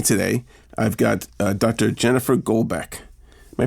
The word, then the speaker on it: Golbeck: Jennifer Goldbeck. Am I pronouncing that right?